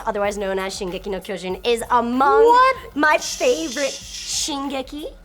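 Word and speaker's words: 巨人: known as Shingeki no Kyojin, is among my favorite Shingeki. Shingeki. No, Trojan. Kyojin. What? Shingeki no Trojan. No! I'm not gonna let you go with this. Say it right because it's my favorite.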